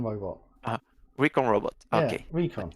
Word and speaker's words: Recon: Recon. Much better. Because it's from reconnaissance.